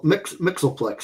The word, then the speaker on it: Mxyzptlk: Mxyzptlk, yeah.